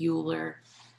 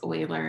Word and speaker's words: Euler: euler diagram so euler i know it looks like euler but it's oiler it is a mathematician